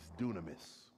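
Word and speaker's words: δύναμις: Now that word power is the word in the Greek called is dunamis. Sounds like the word dynamite.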